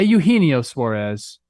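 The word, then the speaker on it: Eugenio Suárez: also talked Eugenio Suarez I put the X on the wrong syllable there that's my bad people a Eugenio Suarez it had been hidden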